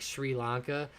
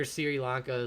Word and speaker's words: Sri Lanka: it whenever you know americans are mispronouncing that the where you're from like that like like sri lanka i'm sure sirilanka is like making your ears blow out so um but yeah